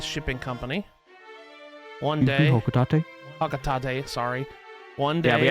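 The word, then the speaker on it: Hocotate: Said Pocketate Freight is in long haul deep space shipping company one day. Hocatate. Hocatate.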